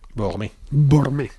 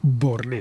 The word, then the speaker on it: Beauharnais: ¿Cómo se pronuncia esto? A ver, hoy tenemos una lección acelerada de francés. A ver. Bormé. Uh-huh. Eso sí, ahí ya me has pillado, Alberto. Borné, Beauharnais.